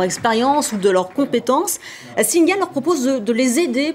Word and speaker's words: Singa: Alors, deuxième projet, Singa, c'est comme ça qu'on dit ?